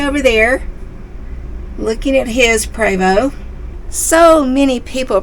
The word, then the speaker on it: Prevost: gray is way over there looking at his preo so many people pronounced privo incorrectly and honestly we did too cuz it looks like it's pronounced Prevost but it's PR it's French p r e